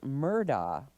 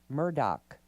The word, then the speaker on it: Murdaugh: Alex Murdaugh. And actually, they say it should be Alec Murdoch. But it's spelled D-A-U-G-H.